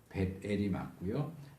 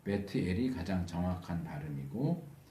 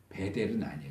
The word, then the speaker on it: 벧엘: 이건 베델이 아니고 벳엘이 맞고요. 정확하게 히브리식으로 말하면 베트엘이죠. 왜냐하면 트 발음은 받침으로 사용되지 않기 때문에 베트엘. 우리한테는 좀 생소하지만 베트엘이 가장 정확한 발음이고 우리에게 익숙한 발음으로 하면 벳엘. 베델은 아니에요.